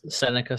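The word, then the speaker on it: Sennecke: spelled differently yeah yeah it's spelled differently yeah it's like s NE CA senica so when I saw his last name I didn't know that's how you pronounced it like I just found out maybe like last week that it's pronounced senica and I'm like that's cool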